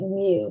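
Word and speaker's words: μ: symbol is mu okay we pronounce it mu kind of like what a cat says a sample mean is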